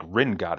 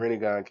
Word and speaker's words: Rinnegan: You It's can read Rinnegan KP. It's not like Ringat, is it? It's not the same. No, Either way, no. happy to have you on. Rinnegan KP.